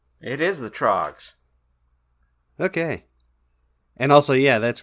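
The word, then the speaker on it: The Troggs: uh isn't that the trogs it said the Throgs here yeah but I mean isn't the band supposed to be isn't it supposed to be the Throgs I'm not saying you said it wrong it is the trogs okay and also yeah that's great weird play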